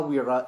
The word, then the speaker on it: Wera: It's Waha Wera, and you're supposed to roll that R Latino style.